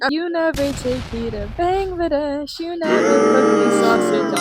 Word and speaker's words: Bangladesh: It's actually pronounced Bangladesh, guys.